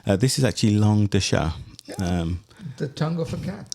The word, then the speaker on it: chat: Well, I pronounced chat by enunciating the T at the end.